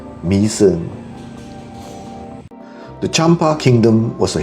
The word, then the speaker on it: Mỹ Sơn: Y with a worm on top, and SON with a tail on the O is pronounced not as my son but mi son.